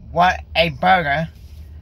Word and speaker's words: Whataburger: So the last three or four times that me and my dad went to Whataburger, that's how you pronounce it.